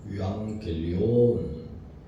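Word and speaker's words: εὐαγγέλιον: 너희에게이는으로 말씀의 혜를겠습니다 이복음이 복음은 깊은 소식입니다 원어적 발음은 유앙겔리온이 단어에 대해서는 앞선 시간에 말씀을 드렸는데이 단어는 로마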